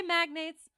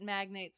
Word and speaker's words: magnates: of our County magnets do you say magnates I think I always said it magnates when I read it but I feel like is I don't know magnates I'm gonna say it magnates in case I'm correct old Acton who is